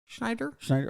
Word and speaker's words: Schneider: I know he had a lot of shit talking to do to Rob Schneider, and it's just am I saying that Rob Schneider? Schneider.